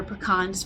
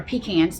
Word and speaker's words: pecan: And I still order pecans from them, or pecans, depending on how you say it.